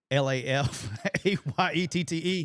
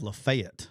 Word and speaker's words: Lafayette: f a ye tte it should be Lafayette that's that's how everyone does it sayette some people so in Alabama we have lefet lefet that's that's up here they say Ox Oxford the county is lafette that's how you say and then it's Lafayette in some places yeah so we got